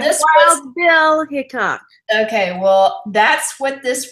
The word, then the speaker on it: Hickok: It's Hickok. Okay. It is. It's Hickok. Okay. Well, like this Wild Bill Hickok.